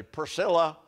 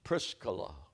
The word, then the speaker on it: Prisca: Aquilla Aquilla and Priscilla every American preacher Paul met Aquilla and Priscilla it was Aquila and Prisa Aquila and Pisa Prisa that was the woman's name but we are Hillbillies and say Priscilla it's prisca because that Claudius they